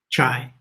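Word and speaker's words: 才: pronounce this correctly, but I think the symbol is pronounced chai, and it means talent, power, or genius.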